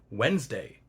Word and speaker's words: Wednesday: Then why in modern English do we pronounce it Wednesday with only two syllables?